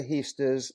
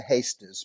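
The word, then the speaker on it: Heesters: We Uh, say Emma Heasters in Holland. They yeah, say Emma Hasters, but you and I are fine with Emma Heasters, yes.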